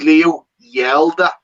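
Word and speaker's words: Leo Hjelde: whites has confirmed that his pronunciation of his name is leo yelda yeah as if he shouted so we have to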